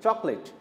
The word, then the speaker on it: chocolate: uncountable noun plural name chocolate here the silent letter is oh there is no sound yes chocolate is made